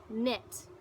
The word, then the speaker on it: knit: K in it now that's our root word knit but we're putting an ING on it because